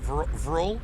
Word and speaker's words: vril: It's one syllable, vril, just vril, not viral, vril.